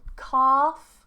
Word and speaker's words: calf: Do you pronounce calf like cough? No, calf, calf, cough, cough. So cough is like, this is a cough. Calf, cough. Different vowels. Cough is a shorter or rounded vowel.